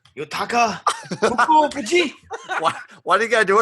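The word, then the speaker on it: Fukufuji: Fuka Fuji. That was correct. That was great. I just want you to say it again because Can it's you so say awesome. his first name? Yutaka Fuku Fuji.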